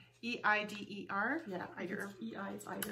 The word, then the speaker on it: Eider: Eider. Eider. E-I-D-E-R.